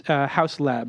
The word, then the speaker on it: Hauslaib: Hey, so my guest, and it's Hauslaib, right? Is that how you pronounce it? Hauslaib, yeah.